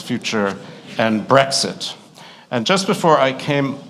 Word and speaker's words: Brexit: as a noun it gives the pronunciation of brexit which is not like breakfast it's not brexit it's brexit and then its definition